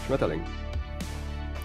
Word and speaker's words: Schmetterling: Give us the proper pronunciation. Schmetterling.